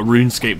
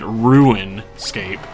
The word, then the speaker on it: RuneScape: I was listening to some video, a RuneScape video recently, and the person kept pronouncing it RuinScape.